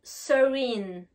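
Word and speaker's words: serene: calme vous pouvez dire sering attention là ça s'écrit avec un e mais le deuxième e a le son I girl maintenant l'adjectif careful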